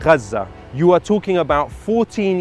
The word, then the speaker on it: Gaza: were killed were already Yes Gaza is the is the actual pronunciation but like I mean it doesn't matter receiving treatment for traumas that